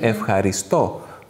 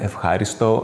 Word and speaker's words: ευχαριστώ: Αυτό το οποίο είναι το πιο δύσκολο στο ευχαριστώ, είναι αυτό που μπερδεύει πάρα πολλούς, είναι ότι τονίζεται στη λίγουσα. Είναι ευχαριστώ. Όλοι το λένε ευχάριστο, ευχαρίστο. Ναι, ευχαρίστο συνήθως.